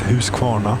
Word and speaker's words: Huskvarna: Stiga is brackets, yes, Huskvarna or Huskvarna, or however the hell you want to pronounce it. It's Huskvarna, House Mill or something.